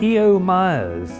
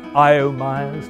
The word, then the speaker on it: E.O. Myers: E.O. Myers, it's the most mispronounced name on the campus, I think. I.O. Myers, 10 Myers, no, E.O., classical Greek Christian name.